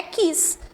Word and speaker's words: quis: do passado perfeito é quis terminada em S né aí um detalhe importante não é Z né Por mais que a pronúncia pareça com z a gente e não é esse tá ah ah agora